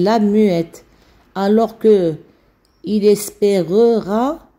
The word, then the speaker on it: espérera: muette alors que lille espérera c'est à dire qu'on prononce le e donc le e d'avant